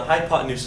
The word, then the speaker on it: hypotenuse: have no papes hyot and hypotenuse looks like hypotenuse like the pots in use but no really what's happening there the hypotenuse is how you say that word hypotenuse is defined